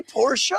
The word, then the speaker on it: Porsha: Hey, Porsha. How you doing? Happy Pride. Yes. See, that's how you say it.